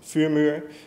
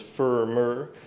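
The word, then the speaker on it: Vuurmuur: Some people may know my other project, which is Fumur. It's a firewall front end for IP tables. But most people pronounce it as Fumur, which is mostly the English speaking people.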